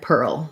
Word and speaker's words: pear: for pear pear and pearl so pear like a pair of shoes and pear like the fruit both have the air diphthong which even when i